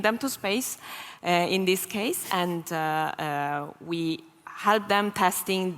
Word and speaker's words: CASE: So we bring them to space in this case, and we help them testing the end-to-end service to get ready to enter the market. And I want to bring up this word case. Yes. Which rhymes with space, which is not an accident.